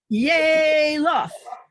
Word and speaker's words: Yalof: Yalof. Did I pronounce it right? Yalof.